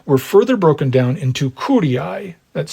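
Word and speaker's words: curiae: now the tribes were further broken down into Ki that's c r i AE CI a word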